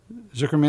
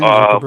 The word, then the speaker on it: Zuckerberg: How do you pronounce his name? The guy from Facebook, Zuckerman. Zuckerberg.